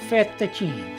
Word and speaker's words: fettuccine: Fettuccine.